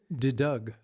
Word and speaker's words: De Deugd: I'll get this Dutch name pronounced De Deugd.